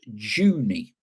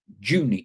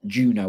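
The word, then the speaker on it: Junee: Paul, where I live in Australia is pronounced Junie. Junie, not Juno or whatever I did.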